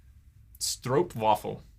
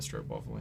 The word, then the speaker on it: stroopwafel: Stroopwafel. That's how you say it.